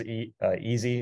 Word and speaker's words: EaaSI: And just because easy is the way the acronym's pronounced, the way it works is, it's essentially streaming virtual machines across the internet through a web browser.